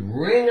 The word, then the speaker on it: wring: It's the same sound, ring, because W is silent. But it means to, for example, if you have a rag, a towel, and it gets wet, you could twist it and you'd wring out the water.